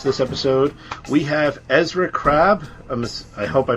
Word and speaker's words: Krabbe: it what are you I always actually think it's difficult to pronounce my last name in English but it should be like krabi yeah the Dutch of